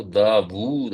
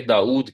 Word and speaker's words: داوود: کریں تو قرآن میں جب یہ لفظ آتا ہے تو داوود آتا ہے، یہ عربی ایکسنٹ کے فلو کے اندر عربی لہجے میں اس کو داوود پڑھنا ہی زبان کے لیے سوٹیبل ہے۔ اردو میں ہم داوود کہنا ہماری زبان پر بوجھل ہو جاتے ہیں ہمارے لہجے کے اندر، اس لیے ہم اس کو کنورٹ کر کے داؤد کہہ دیتے ہیں۔ یہ جو فلو کا